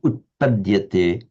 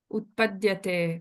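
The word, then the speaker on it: उत्पद्यते: Could you say this word utpadyate? Utpadyate. Oh, utpadyate. That's where before it came out a little bit too long.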